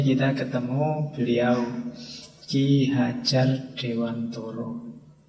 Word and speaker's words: Dewantara: Malam ini kita ketemu beliau Ki Hajar Dewantoro. Ya kalau pakai bahasa Jawa kan bacanya Dewantoro. Nanti yang mungkin tidak familiar ya bunyinya jadi Ki Hajar Dewantara.